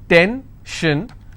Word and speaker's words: tension: will stress on gore s-i-o-n tension pension so how many syllables in tension 2 10 shin i will stress on 10 if i have pension